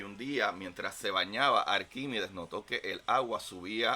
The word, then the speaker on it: Arquímedes: escritura, no sé, pero la ciencia no reconoce un talquímides. Sí reconoce a Arquímides con R.